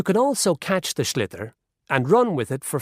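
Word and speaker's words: sliotar: this ball called a schlitter that's s IO t a or so it's not spelled the way it's pronounced you hit it into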